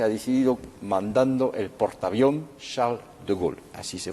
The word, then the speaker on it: Charles de Gaulle: Y es lo que se ha decidido mandando el portaavión Charles de Gaulle, así se pronuncia.